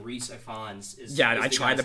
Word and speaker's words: Rhys Ifans: I went and looked it up, and I believe you pronounce his name Rhys Ifans.